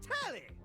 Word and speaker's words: Telly: The name's Telly. Rhymes with Nelly. Like, whoa, Nelly! Did you know Telly offers 5,000 channels like an endless deli?